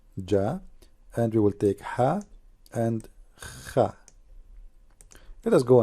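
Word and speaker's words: ح: Ha. Now, how to pronounce letter Ha? Imagine yourself, you are getting cold and you are saying it's cold. That's Ha.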